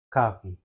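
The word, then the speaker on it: coffee: Cofi, cofe, cofe, cofi. Tidak bisa. Ki, kafi kafi. Oke, bisa ya dibedain ya. Maka silabel stres-nya adalah kafi.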